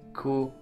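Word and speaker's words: く: We pronounce these syllables the same way, but we put a ka, a K in front.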